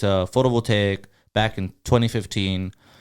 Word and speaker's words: photovoltaic: permit that permit number it'll say it's a photovoltaic back in 2015. how do you pronounce that photo will take solar yeah photo voltaic so photovoltaic yeah that is complicated yeah it's